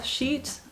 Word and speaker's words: sheet: Well, if it's an Excel sheet, I would say, just to avoid any confusion, I would say a spreadsheet. It's just the E is longer, so sheet.